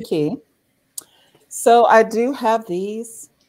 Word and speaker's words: Quay: key sunglasses and uh i think some people think they're pronounced clay but it's actually key so i do have